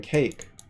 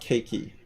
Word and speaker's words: cake: Like in cake, that you don't say the E, you don't pronounce it. It's not cakey. It's just cake.